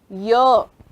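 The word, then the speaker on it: ewe: a yellow bulb ok now yellow starts with your syllable correct that's not over will so it is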